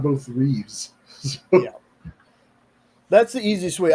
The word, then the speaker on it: Reeve: Sean did say it right, but I just want to let people know if there's an S in the first name, there's no S in the last. So, it's Christopher Reev, George Reeves.